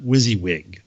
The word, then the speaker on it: WYSIWYG: da da, and he said, I'm going to pronounce that WYSIWYG.